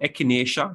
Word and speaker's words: echinacea: the flu virus so echinacea that's how it's produced echinacea don't try to pronounce it as a spell people that is that